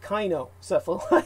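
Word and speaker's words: cynocephali: way that would be kainocephala it's pronounced that the c is actually pronounced as a k i i i didn't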